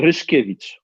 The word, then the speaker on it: Ryszkiewicz: It's Ryszkiewicz. Ryszkiewicz.